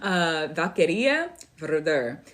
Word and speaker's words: Vaqueria Verder: The correct pronunciation of my name is Vaqueria Verder. But if you would like to sit in the English articulation, it's Valkyrie is the more English. Vaqueria is like old. That's the very old pronunciation of that.